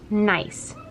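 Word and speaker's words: gneiss: pressure heat and time so this word is pronounced nice that's the name of this rock and it's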